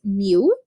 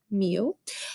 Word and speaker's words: mu: it is represented by this symbol that we pronounce mu mu but i'll usually just call it the mean